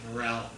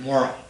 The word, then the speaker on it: Morrell: and we pronounce it Morel I'm certain moral we pronounce it moral rather more moral family and I remember I